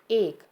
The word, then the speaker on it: एक: बहुत, परिवार, बागीचे, इक। इनका शुद्ध उच्चारण कैसे करेंगे? बहुत, परिवार, बगीचे, एक।